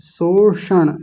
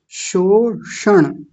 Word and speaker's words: शोषण: ये लगा दिया फिर ये लगाया शो नहीं ऐसे बोला आपने शोषण ऐसे नहीं शोषण बोलिए शोषण आवाज कट गई फिर से बोलिए शोषण बिल्कुल गलत है दोनों गलत कर दिए इस बार शोषण शोषण बिल्कुल गलत है सरासर गलत है अभ्यास कीजिए पुष्पा माता